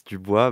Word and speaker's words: Dubois: And for our new guests, we have Frosty and Dubois. Is that how you pronounce it? Yeah, it's pretty close. It's Dubois, but Dubois is pretty good, pretty good.